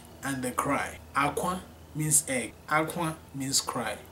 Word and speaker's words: akwa: So, akwa, you hear how I'm pronouncing it, akwa, not aqua, no, akwa.